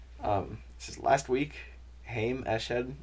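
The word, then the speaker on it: Haim Eshed: this is last week heym ash head i'm pretty sure is how you say it hi mesh head sounding hey um former head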